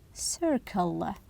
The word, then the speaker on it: circle: Circle and class notice Circle the the C's here the first one sounds as s and the second one sounds as C how about Class C